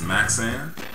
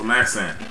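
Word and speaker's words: Maxayn: this was another artist now they told me that you don't pronounce the why on this so it's maxan I read that somewhere so maxan this is very very very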